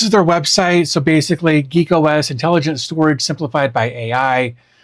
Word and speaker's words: GeakOS: Uh, today we're going to check out something called Geek OS, uh, and I know that it looks like I spelled it wrong, but I didn't. Uh, they spell it g e a k for some reason, so,